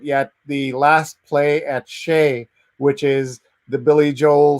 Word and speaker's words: Shea: So if you're a Billy Joel fan, you must check out Last Play at Shea. SHEA is the pronunciation.